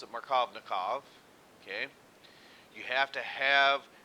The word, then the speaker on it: Markovnikov: conditions just right for this rule to apply pronounce it markovnikov okay you have to have the asymmetric reagent